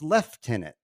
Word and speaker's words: Lieutenant: simple in British English the word Lieutenant is pronounced Le tenant that's all there is to it he sends